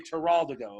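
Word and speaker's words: Teroldego: We're going to say Terraldigo, okay? 1, 2, 3. Terraldigo. All right, it's always easier if you do with a hand movement, too, because it's a good Italian word. Terraldigo.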